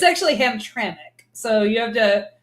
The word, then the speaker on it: Hamtramck: right ham track yeah yeah what is it really though it's actually Hamtramck so you have to say it there's vowels in there that don't exist there's vowels that don't